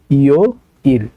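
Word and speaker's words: 요일: তাহলে এটা উচ্চারণ হবে ইও ইল।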